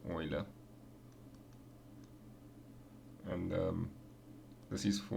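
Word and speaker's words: Euler: it's oil's number that e is oil's number pronounced Oiler and um this is for when n is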